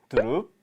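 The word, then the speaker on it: дөрөв: 넥, 허열, 고롭, 두룹, 타옵. 네, 1부터 5까지 발음을 닉, 허열, 고롭, 두룹, 타옵 이렇게 얘기를 합니다.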